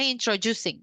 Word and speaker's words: introducing: sering selip di sini ini bacanya introducing Jadi kalau yang ini introductions kalau yang ini introducing jadi d-nya itu kebaca kayak agak J gitu ya jadi introducing a